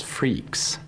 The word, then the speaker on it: Freax: Linux My name of choice was Freaks.